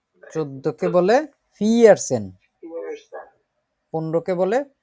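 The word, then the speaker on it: vierzehn: 11কে বলে হচ্ছে এলফ, 12কে বলে সোলফ, 13কে বলে দ্রাইসেন, 14কে বলে ফিয়ারসেন, 15কে বলে ফুমসেন।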